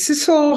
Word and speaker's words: Sidsel: Yes, my name is Sidsel. It rhymes with whistle, Sidsel.